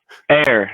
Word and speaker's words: AEIR: Now, I just spell it out, but is there a proper pronunciation for it, or? Air, yeah, like air, Air. like the air you breathe.